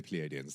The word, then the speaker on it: Pleiadians: Before I used to say Pleiadians or whatever. I'd always that or whatever. In case I was pronouncing it wrong. We could just call them the Nordic aliens because that's the other thing that they're called, or the Nordic folk. No, we can't call them the Nordic folk because those would be. Or we could just pronunciate it correctly. We could just say Pleiadians.